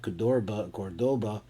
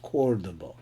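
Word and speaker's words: Córdoba: This is not pronounced Cordoba, it's pronounced Cordoba.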